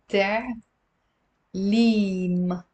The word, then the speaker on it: تعليم: تعليم. تعليم. It's two syllables and it means education.